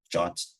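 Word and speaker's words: JWT: and then others might use uh what's called jot Json web token I don't know why it's pronounced challenge but it is um and Alex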